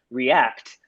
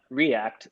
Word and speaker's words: React: He said, I always imagined it pronounced react, not react, but maybe I'm wrong.